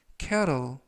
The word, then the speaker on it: kettle: 2번 표현은 cattle, cattle, cattle 이라고 발음하시면 되겠고요. 이때 알파벳 T는 트가 아니라 부드럽게 르, 그래서 cattle 이라고 발음하시면 더 좋겠습니다.